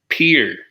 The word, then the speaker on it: Pierre: all right number 47 if you pronounce South Dakota state capital like the French name you'll be quickly corrected by the locals who pronounced it as Pierre the land was settled